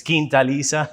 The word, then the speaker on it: Kisa: taste of Kisa tequila it's Kisa yeah people are struggling to pronounce a little bit you know it's um